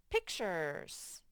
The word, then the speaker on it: pictures: dr seuss would draw pictures and this is funny because you wouldn't expect a t in the u to say pictures pictures you just have to remember that slight word pictures and finally we have